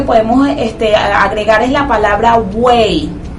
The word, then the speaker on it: buey: Buey también no se separa. Usted dice buey, usted no dice buey. Usted dice buey, en este caso ahí hay triptongo, a pesar de que la I final se escribe con Y.